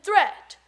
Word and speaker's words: threat: don't call it deed watch out for meat and great and threat they rhyme with sweet and straight and dead a moth is not